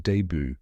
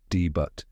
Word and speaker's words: debut: from the French word debut meaning first appearance or beginning and just like in French we don't pronounce the T at the end a lot of people say deboot or debut but now you know